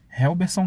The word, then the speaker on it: Relberson: Se escreve como se lê, R-E-L-B-E-R-S-O-N, Costa. Helberson Costa.